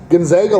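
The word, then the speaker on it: Gonzaga: there St Mary's and gona I watch because these two rip each other up it's always been a hard G they don't really you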